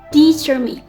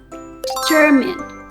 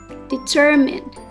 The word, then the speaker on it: determine: The correct way to pronounce the word is determined. determined with the stress on the second syllables and the first part the sound like the beginning of the word dinner and the last part min but with a softer e.